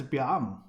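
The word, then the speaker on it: 𰻞: Here I'm presenting to you the most complicated Chinese character, pronounced as Biang.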